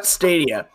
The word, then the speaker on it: Stadia: Yeah, Stadia. So, Stadium is the proper plural pronunciation and word for stadiums.